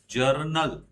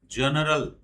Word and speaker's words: journal: जर्नल, नॉट जनरल, जर्नल, जर्नल, जर्नल। हाँ, गलत pronunciation ना करना।